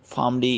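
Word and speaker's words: PharmD: Career counselling जो series चल रही है उसमें फार्मडी के हवाले से हमने डिस्कस करना है डॉक्टर फार्मेसी या डी फार्मेसी या फार्मडी। डिफरेंट तरह के वर्ड्स जो है लोग यूज़ करते हैं, वैसे इसका फार्मडी इसके ओरिजिनल प्रोनाउंसिएशन है।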